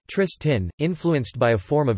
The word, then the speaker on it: Triestin: Today, the dominant local dialect of Trieste is Triestine, Triestin, pronounced Tristin, influenced by a form of Venetian.